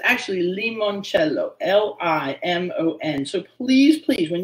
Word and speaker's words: limoncello: You know, it's actually limoncello, L-I-M-O-N.